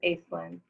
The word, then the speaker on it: Aslan: you so much uh my name is not very easy to pronounce so thank you for uh that gracious attempt um it's it is pronounced aslan um but you know i